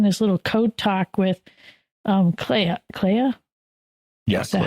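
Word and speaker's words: Kleya: and he's doing his little code talk with Clea.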